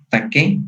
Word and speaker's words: taque: así se le conoce nada más taque con acento en la e y regreso por muelle